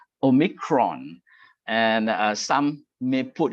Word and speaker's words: omicron: micron is uh the the pronunciation is not really oh micron actually omicron and uh some may